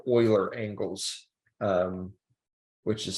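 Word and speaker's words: Euler: Kind of the way that we are going to use XYZ rotations are actually something called oiler angles. Um, which is spelled like that.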